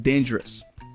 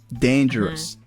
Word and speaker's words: dangerous: you examples here like dangerous dangerous that word has three syllables and the first one is emphasized then the other two is jurus jurus MHM or